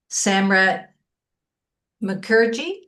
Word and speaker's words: Samrat Mukherjee: will be presenting named Samrat Mukherjee. Am I pronouncing that right? Yeah, that's right. Okay, Samrat very Mukherjee.